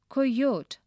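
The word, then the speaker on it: coyote: up in class pronounce coyot like COI rhymes with boy oat rhymes with boat with I at the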